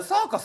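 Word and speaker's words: Circus: か書いてるやろチルクスってて言うたらあれサーカスって読むんですめちゃめちゃ恥ずかしくて C サーカスって S で始まるんじゃないかっていうイメージがあって C で始まるんですねサーカスっ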